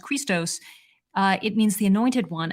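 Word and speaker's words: Χριστός: the first letter of the word Christ uh pronounced Christos it means the anointed one and the cosmic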